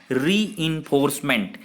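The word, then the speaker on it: reinforcement: पुनर्बलन, रेनफोर्समेंट, रीइंफोर्समेंट कहेंगे, इसका exact pronunciation है रीइंफोर्समेंट, यानी कि पुनर्बलन।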